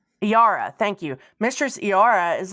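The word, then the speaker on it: Eira: Iara. Iara, thank you.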